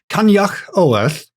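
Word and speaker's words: Coinneach Odhar: And the Brian seer was named Kanyak Oorth. The problem is I'm I'm just saying an impression of exactly what the woman on the learn g website says. Yeah.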